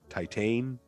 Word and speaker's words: Titane: need to watch again titan i think is how you say it t-i-t-a-n-e i think i just rented this